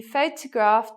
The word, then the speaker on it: photograph: He photographed the whole family. She looks pretty in the photograph. It's the same, okay? The stress is in the same position at the beginning of the word.